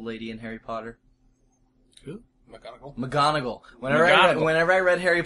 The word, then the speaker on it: McGonagall: McGonagall. McGonagall. Whenever I read Harry Potter before the movies came out, I called her McNow because I didn't know how to say it.